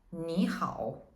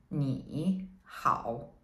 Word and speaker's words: 你好: But when two characters of the third tone are put together, we change the first character to the second tone, so it's easier to pronounce. So in this case, we would say 你好 instead of 你好, which is longer and less convenient, right?